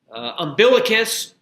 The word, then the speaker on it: umbilicus: Umbilicus or umbilicus. It has two different pronunciations, or the umbilical region.